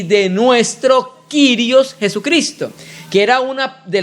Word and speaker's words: kyrios: particular el término kyrios algunos hermanos lo producen lo pronuncian como curioso el término kyrios es un término de